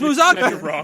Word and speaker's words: Musacchio: Isn't it Musacchio? Now Yes. you lost. It is Musacchio. So I have to emphasize the Musacchio. yes. Ah, Manuela Musacchio. The emphasis is on the second syllable.